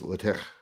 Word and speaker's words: LaTeX: spell it now uh l-a-t-e-x letter yeah that's the one yeah I'm pronouncing it the Greek way because that's how it's supposed to be pronounced yeah yeah so if